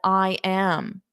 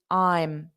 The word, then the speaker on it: I'm: you get that contraction I'm a lot of times I hear students still there's the contraction but they still pronounce it as I am I am but as a contraction there's no a sound it's I'm I'm I'm running 20